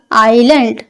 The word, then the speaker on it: island: टू बी होना, happy खुश, ऑन पर, द आइलैंड जजीरा, और ये जो है ना एस साइलेंट है, इसमें एस नहीं लगेगा।